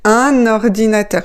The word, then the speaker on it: un ordinateur: Donc, vous dites, "Un ordinateur." Il faut bien prononcer "un" et pas "une". C'est très important, ça aussi, la prononciation. "Un ordinateur." Faites la liaison dans la deuxième syllabe.